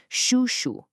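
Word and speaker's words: 叔叔: For a man, you'd say shu.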